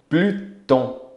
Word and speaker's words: Pluton: Plutão, Pluton. Pronuncia-se tudo.